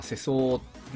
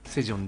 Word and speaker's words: 世宗: 朝鮮歴史ものです世界のせい 2 層と書いて日本語読みすると清掃とかせそうなんですけどここでは韓国語読みのセゾンでいきたいとおもいますところでみな